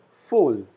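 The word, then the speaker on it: voll: doom full full again v alphabet is pronounced as f we call it full which means full then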